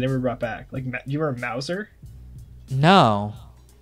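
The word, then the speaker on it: Mouser: You remember Mauser? No. It's spelled like Bowser, but with an M.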